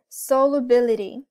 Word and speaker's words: solubility: us it's right here solubility if you you probably notice how solo ability rhymes with the ability right so ability ability